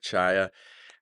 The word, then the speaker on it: Czaja: yeah first of all congrats on pronouncing my last name correctly that I don't I don't get that a lot so yeah Chia I went to Marquette